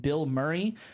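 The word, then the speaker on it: Bilmuri: to listen to is an artist named Bill Murray uh I know what you're thinking um it's spelled b i l m u r i um so it's one word um if you ever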